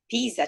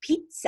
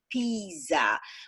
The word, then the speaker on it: Pisa: yesterday we were visiting Pisa together one of the first mistake is to pronounce the name of city Pisa as the famous Italian dish pizza so a lot of